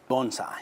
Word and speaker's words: bonsai: I'm saying bonsai. Is that the proper way? Well, you can say bonsai. It's really you just combined the word bone and sigh. So it's bonsai.